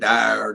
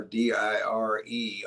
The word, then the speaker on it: dire: Voir means to speak, and dire, D-I-R-E, or dire, depending upon how you want to pronounce it, means to speak direly or seriously.